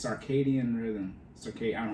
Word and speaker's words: circadian: It's circadian rhythm. I don't know how to say it. Circadian. But, yeah, that's the internal clock. I said Ceridian. It's not Ceridian.